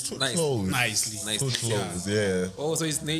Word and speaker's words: Nvcely: You pronounce it as Nvcely Sings. Yeah, so the V, it's an A that's upside down. It's like when you say flame. Yes. I'm good. Nicely.